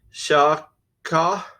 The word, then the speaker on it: שחה: Now, the literal transliteration of this word is shachah, which is pronounced shaw-khaw.